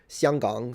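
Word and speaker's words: 香港: It's kind of weird because the distance between, say, Beijing and Xianggang, so would be Hong Kong. That's how you say it in Mandarin, by the way.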